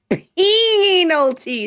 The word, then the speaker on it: Penal: Judge giving Godot the workings of the Penalty system. Penal. It rhymes with anal.